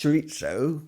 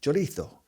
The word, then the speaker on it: chorizo: Paella, and Roija Chorizo It’s not pronounced chor-itzo because it’s not Italian. It’s Spanish and they call it chor-ee-thoe.